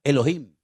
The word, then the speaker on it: Elohim: Y el primer nombre que conocemos de Dios, si empezamos a leer la Biblia desde el principio, es un nombre que se pronuncia Elohim.